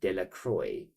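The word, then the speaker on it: Delacroix: dicki de dequa um the villagers pronounced his this name de Croy eventually became eventually made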